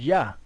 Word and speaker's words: Yah: where the name of the most high is pronounced yah you know it was a shorten form of